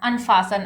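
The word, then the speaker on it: unfasten: तो अनडू करना अनफासन। अब देखिए इसको फास्ट मत पढ़िएगा। यहां पे टी साइलेंट है। अनफासन।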